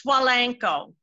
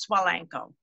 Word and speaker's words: Svajlenko: work for me so it's pretty simple it's swalenko but it's got a lot of silent letters so s-v-a-j-l-e-n-k-o and it's just pronounced swell ankle is that polish czechoslovakian